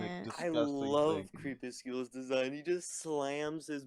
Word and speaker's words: Crepuscule: Crepuscule. Yes. Crepuscule.